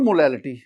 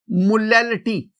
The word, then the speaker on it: molality: My dear student, अगर आप मोलैरिटी और मोलैलिटी दोनों के स्पेलिंग्स देखें ना तो देखिए MOLARITY मोलैरिटी, और इधर आप देखेंगे MOLALITY मोलैलिटी। एक में R है मोलैरिटी, एक में L है मोलैलिटी, बाकी लेटर्स दोनों में सेम है।